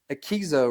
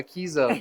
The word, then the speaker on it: Akeso: So let's wrap up the Akeso, right? Is that how you say it? I was Akeso. calling it Akeso at first.